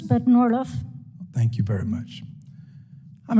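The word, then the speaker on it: Norrlof: Carla, is it Norliff? I get all kinds of pronunciations, but Norliff.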